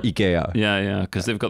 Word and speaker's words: IKEA: it all though well the name is ikea isn't it really that's the actual pronunciation in japan they call it ikea yeah yeah because they've